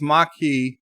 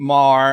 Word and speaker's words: Maquis: totally not Lauren drag it's Maki Maki mah K ey Maki the Maki okay so I wasn't Mar and it's not ma it's ma ma ma ki I will do my